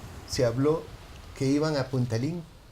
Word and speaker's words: Puntalín: nombre viaje al remoto punta link punta link es punta arenas está pronunciado como el chino puntarenas entonces el país es